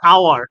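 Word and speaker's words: hour: ঠিক তেমনি this is অ্যান আওয়ার, আওয়ার হচ্ছে এইচ এর উচ্চারণ হয় নাই।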